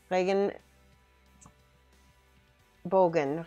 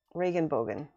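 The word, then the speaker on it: Regenbogen: but then i remember i think it's regan reagan bogan reagan bogan it's like rain elbow right mike reagan bogan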